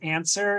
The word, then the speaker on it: ANSIRH: connected with UCSF called ANSWER. It's not spelled like the word answer, it's an acronym, ANSIRH.